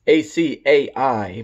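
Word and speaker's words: açaí: I don't know how to pronounce that guy. It's A-C-A-I, berry.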